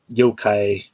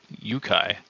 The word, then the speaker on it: yokai: Also, is it yokai or yukai? So they spell it kind of off, but it's yokai.